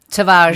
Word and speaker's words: Tavares: And is it Tavares you pronounced it, the other guy? Tavares.